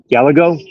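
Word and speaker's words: Gallego: in hispan or whatever you don't pronounce the two L's together so it's like Gayo GGO gallago Gallagher watermelon smash the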